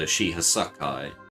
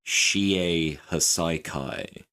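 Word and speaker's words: Shie Hassaikai: heroes to raid the Shihasakai. Okay, sorry, hang on a second. I'm completely butchering the way how that's pronounced. It's pronounced the Shie Hasaikai.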